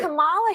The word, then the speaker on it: Kamala: actually pronounce her name and right. Kamala Harris, if I were a man, You said I this.